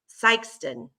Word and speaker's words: Sikeston: The main is on in the main one is on, can you pronounce that? Nope. S-I-K? I Sikeston? can't see it. It's Sikeston.